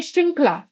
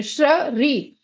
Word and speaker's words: श्रृंखला: हो जाता है, क्योंकि हम वहां बोल रहे हैं श्रृंखला, हम वहां री नहीं बोल रहे, श्र री, ये नहीं उच्चारण हो रहा है, तो क्या होगा?